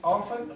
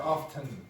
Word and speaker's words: often: So you can pronounce it often or often. You have two pronunciations. Both are correct. Both are reasonably standard. You can come sit down there just so Charles can see. Okay, so you have often or often. Both are accepted.